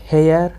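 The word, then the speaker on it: heir: तो हेयर honour honest our. तेणु सब देखो एच अच्छी कि साउंड हो ओ आ।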